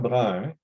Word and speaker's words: Brun: I know my last name, Brun, is hard to pronounce. Brun in English is Brown. So quite often people will just say, Brown, because they can't pronounce Brun.